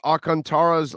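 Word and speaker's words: Alcantara: so uh big o you purposely mispronounced akantara's last name i don't know why the n is not uh it's not pronounced i don't know i think everybody else is mispronouncing it that's what i think i don't know they're not pronouncing it the way it's spelled i wonder see the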